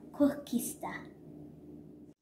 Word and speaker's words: koeksister: treat from south africa i had to learn how to pronounce it it is called kokista i was looking online